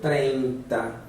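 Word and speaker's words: treinta: O 30 será pronunciado 30. Então existe um E aqui, antes do I, 30.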